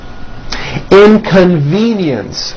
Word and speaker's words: inconvenience: Inconvenience. 4 syllables. And there is also a hidden Y in the last syllable. Inconvenience.